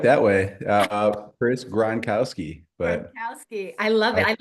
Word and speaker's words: Gronkowski: for me I like that way uh Chris gronowski Butowski I love it I love the ACC